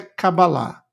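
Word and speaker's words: Kabbalah: introdução a Cabala a a pronúncia correta é cabalá OK tem escrit aqui é com k k a b b a l a h que é escrita mais comum no português se escreve assim cabala E tem também com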